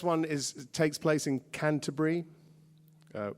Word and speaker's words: Canterbury: Uh this last one is takes place in Canterbury. Uh you call it Canterbury, but there's four syllables and a T. It's called Canterbury. And uh it takes place in Canterbury in the early 80s.